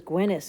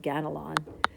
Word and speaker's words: Ganelon: But Ganelon, who's pronounced as Gwenus here, we'll use our word, Ganelon.